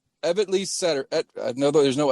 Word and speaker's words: Evetty: Evetty Satterfield. No, there's no L. Evetty.